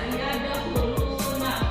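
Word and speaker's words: يدخلون: Berarti itu kho diucapkannya di pangkal tenggorokan. Beda dengan ha. Ada ha, ada kho ya. Kalau kho itu kho ya, ada di pangkal tenggorokan pengucapannya.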